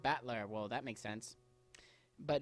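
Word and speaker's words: Battler: characters for the fight and person and it's pronounced batler well that makes sense but alog together you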